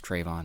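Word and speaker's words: Trevon: I said his name wrong. It's Trayvon.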